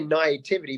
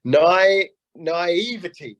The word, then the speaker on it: naivety: always say it wrong I always say Nativity but it's actually night night nothing and I got this naivety there we go thank you David said it's a French naivety there we go exactly